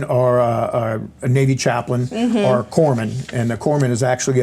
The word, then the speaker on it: corpsman: corpses and so the the p is silent so anyway we're it's like the Marine Corps and a Navy corpsman that that help us